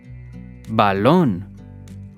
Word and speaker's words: balón: Balón. Balón. We stress the syllable lon.